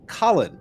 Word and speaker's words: Callan: It's pronounced like Colin, so don't stress the last name.